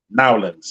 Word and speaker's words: New Orleans: Going down, full license and bonded, out of service in the Houston, Texas area and New Orleans. Hold on, say it like it's supposed to say it. Nowlands, service in Nowlands, and also Houston, Texas.